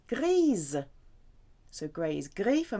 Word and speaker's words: grise: Grey for masculine is gris, and for feminine you add the E, so now you're going to get that Z sound because the S will be between two vowels. Grise.